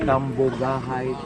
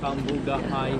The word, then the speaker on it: Cambugahay: How do I pronounce this waterfall? Cambugahay Falls. Cambugahay Falls.